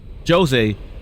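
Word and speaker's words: Djose: go to uh jose jose high road i don't know why i said jose but uh the d is silent um and we're gonna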